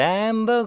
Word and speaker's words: amber: Morning fields of amber grain. A 발음요. 입술 옆으로 벌립니다. amber grain.